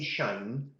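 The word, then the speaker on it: sinh: ones are there it's SI NH which i tend to pronounce us shiny though the reason for that then is there's no overlap or no damping when I say shine I know I'm talking about hyperbolic functions and not trig functions and I not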